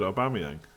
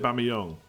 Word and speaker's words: Aubameyang: I think that's pretty good, Aubameyang. Or is it Aubameyang? People kept saying it was Aubameyang, like Yong at the end last year, but I think it's Yang, isn't it?